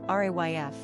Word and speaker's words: Ralph: Pronunciation, Ralph, RAYF.